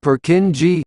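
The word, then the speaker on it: Purkinje: brain called the cerebellum is known as a perkinier commonly pronounced per kin g cell it is named after the anatomist who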